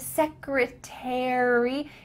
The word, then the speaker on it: secretary: Same with the word secretary. In British English, they kind of link those all together, but in American English, we say each one, military, secretary. I'm a plumber.